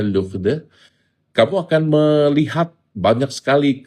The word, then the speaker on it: Lourdes: Kalau kamu pergi ke tempat-tempat ziarah yang terkenal seperti LD, Lourdes, Lourdes bacanya Lughde, kamu akan melihat banyak sekali krek-krek, tongkat-tongkat, kursi roda yang ditempelkan di dinding-dinding sebagai tanda terima kasih bahwa mukjizat terjadi.